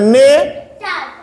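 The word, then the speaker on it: nature: একটা জিনিস খেয়াল করো টি ইউ আর ই এটার উচ্চারণ হচ্ছে চাকার র চার ওকে চার তাহলে স্যার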